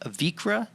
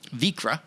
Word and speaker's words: Vikre: get the name right you're with vikra distillery yep vikra yeah which it's uh it looks very different how do you spell it v-i-k-r-e okay that doesn't look like vikra to me but that's cool